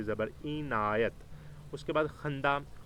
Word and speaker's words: خندہ: اینایت۔ اس کے بعد خندہ، خندے کے اوپر بھی زبر اور نون کے زبر جزم، اور دال کے اوپر بھی زبر آپ نے ڈالنی ہے۔ وصف، وصف، واو